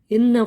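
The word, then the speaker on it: إِنَّ: Inna merupakan gunnah karena ada nun yang bertasydid. Dibacanya pun agak ditekan dan penekanannya 2-3 harkat.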